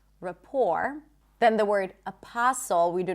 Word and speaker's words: rapport: Also the word rapport. Rapport. You can also put a schwa at the beginning. Rapport. It's not report. Rapport. Then the word apostle, we do not pronounce the T there.